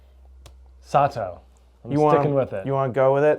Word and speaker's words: Sato: Bob and I are here today to talk about the brand new 2026 Black Crows Sato and Sato Birdie. I feel pretty confident about that pronunciation that it's not Sat. Sato.